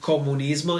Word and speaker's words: comunismo: Notice that in Italian, all the words ending in ism, we do not pronounce them isms, but we say ismo. It's all one sound. It's not ism, it's ism. So we would say fascismo and not fascism. We would say comunismo and not communism.